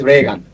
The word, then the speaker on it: Reagan: Treasury whose name is spelled exactly same and pronounced Rean is DH Secretary of Treasury. He is Rean. President is Reagan.